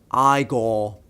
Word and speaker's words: Igor: Now, it's pronounced Igor.